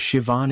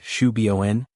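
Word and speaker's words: Siobhan: There was Shivan in Boston who refused to accept Shuen as an acceptable pronunciation and taught her classmates about Irish Gaelic traditions.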